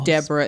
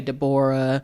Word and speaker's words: Deborah: Uh because it's spelled My mom's name is Deborah. It's spelled D E B O R A H. And so sometimes people say Dborah.